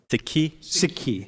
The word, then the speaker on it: Sikhi: Wait, how do you pronounce it? Sikhi.